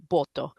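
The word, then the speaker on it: Botho: But Botswana, interestingly enough, has a similar concept to Ubuntu, and it's called uh BTO, which is spelled B O T H O.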